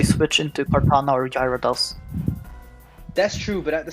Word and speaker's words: Gyarados: Yeah, Gyarados, that's how it's pronounced.